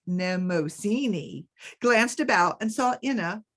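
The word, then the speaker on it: Mnemosyne: visit to Femme headquarters nemosini pronounced nemosini glanced about and saw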